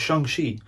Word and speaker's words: Shang-Chi: And don't be like me and mispronounce it at first, okay? It's Shang-Chi.